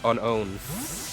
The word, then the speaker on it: Unown: Like how unknown actually doesn't have an N, so it's unown.